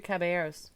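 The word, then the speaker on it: Caballeros: characters from the three caberos okay well I have seen three cab three caberos caberos There You Go caberos Spanish you don't pronounce the L's nope okay okay well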